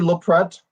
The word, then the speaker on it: Loprete: And my name is Loprete. That's how you pronounce my last name.